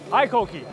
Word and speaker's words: HiKOKI: 正确的发音的念法，Hi Cookie，在工地怎么能够没有拉力油嘞？